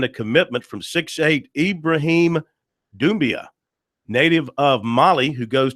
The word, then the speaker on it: Doumbia: Is it Doumbia or Doumbia? Oh, it's Doumbia. That is correct. It's Ibrahim with an I at the beginning, and Doumbia is correct pronunciation.